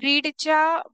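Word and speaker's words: read: रीड रीड रीड okay so तुम्हाला तो रीड म्हणून वाटेल पण तो त्याचा पास्ट मध्ये बोलतो त्याचं प्रोनाउंसिएशन रेड होता स्पेलिंग सेम असलं तरी नेक्स्ट दे विल रीड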